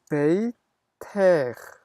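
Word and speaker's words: בֵּיתֵךְ: 마찬가지로 너의라고 할 때는 발음이 나는 카프를 쓰는 겁니다. 그래서 베이트, 아, 베이텍, 베이텍 이렇게 되는 거죠.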